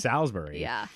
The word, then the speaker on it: Salisbury: is that this woman says salisbury steak I've always heard I've always heard it as salsbury and so anyway